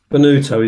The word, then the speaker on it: Bonutto: Bonutto is how it's pronounced. Yes. Bonutto, Bonutto.